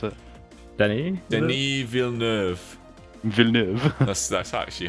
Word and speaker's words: Denis Villeneuve: Did I pronounce it? Denis? Denis Villeneuve.